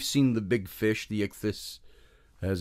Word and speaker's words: ichthys: I know we've seen the big fish, the ichthys, as it's pronounced.